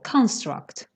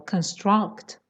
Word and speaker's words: construct: is so wait wait if you want to say it as a noun then the stress is on the first syllable construct okay if it's a verb the stress is on the second syllable construct like perfect or perfect construct is a noun okay go on yes